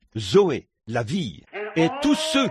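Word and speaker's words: ζωή: Et en grec, pour dire la vie de Dieu ou la vie éternelle, on se sert du même mot que l'on prononce, Zoé, Z-O-E, Zoé, la vie.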